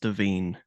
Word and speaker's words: Devine: Devine. I looked up earlier. I thought it was Divine as well because of the spelling, but it's pronounced Devine.